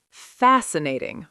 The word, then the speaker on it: fascinating: Fascinating. Four syllables. Stress on fascinating.